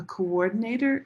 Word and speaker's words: coordinator: If you look at this word right here, you see two O's, but we don't say coordinator. This is one syllable co. And then this is the next syllable. War denator. So right here there's actually an invisible sound. I'm going to make this a different color. There we go. Coordinator. Can you hear me say that? War. War. Coordinator. This W helps divide the syllables so it's easier to understand.